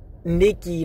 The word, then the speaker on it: Nike: the it's pronounced Nikki not Nike however this is okay